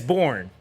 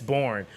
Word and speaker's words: Born: Yeah, it's Born. Yeah, it's Born. Yeah, I heard a few other pronunciations of his name, but it's Born.